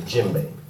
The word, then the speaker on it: djembe: to you a lot about it's called play jimbe now the djembe is spelled d je e MV this drum is